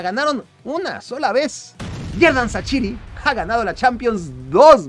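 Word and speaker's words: Shaqiri: 28 goles y 31 asistencias desde que Sachiri, sí, así se pronuncia.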